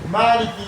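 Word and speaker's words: مالك: Comme par exemple dans le Torah de Fatiha, Maliki Yaoumidin ou bien Maliki Yaoumidin. C'est-à-dire soit tu prononces le Ma, tu dis Maliki, ou bien tu ne prononces pas, tu dis Maliki. Toutes les deux sont admises.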